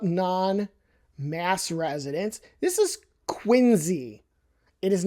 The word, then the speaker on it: Quincy: It's not quincy. It's qu. The C is pronounced like a Z. Why? I could not tell you. No one has ever explained that to me. But it's quinzy, trust me.